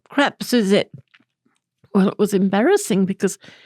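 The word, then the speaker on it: crêpe Suzette: So the gentleman brought me the menu, and I pointed to crepe Suzettes. But I wasn't sure if I was saying it correctly. So I just pointed and I said, I'm not sure how to pronounce this. And he said, oh, crap Suzette.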